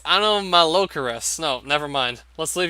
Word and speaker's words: Anomalocaris: Alomalocaris! It's Anomalocaris.